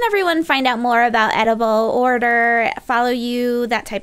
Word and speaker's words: Edoughble: So it's spelled, it's like Edoughble, but pronounced Edoughble because it's edible dough.